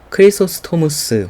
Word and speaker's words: 크리소스토무스: 역사들이 그쳤다고 말합니다 어 크리소스토무스 혹은 뭐 영어식 발음은 크리소스톰 있데요 어이 사람은 고린도전서 12장의